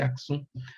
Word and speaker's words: Axum: Ou Axum, se escreve A-X-U-M, deve ser Aksum, obviamente.